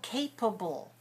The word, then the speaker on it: capable: the the adjective form capable capable capable those are three syllables right stressed on which one stressed on syllable number one capable so yes good and